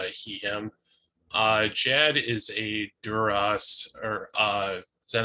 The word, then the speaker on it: Duros: I have always gone with a long O, but I don't think I've ever heard it officially pronounced within Star Wars. So Duros.